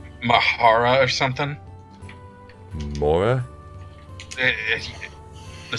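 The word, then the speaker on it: Mhaura: or something no it's it's just the word aura with mh at the start and the h is silent i'm not at least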